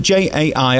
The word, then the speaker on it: Jai: I mean, J-A-I, how do you say it? Jai. Jai. It's an I. You say Jai and I say Jay.